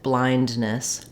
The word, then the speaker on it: blindness: I just said it blindness where you can hear the D sound in blind when we say the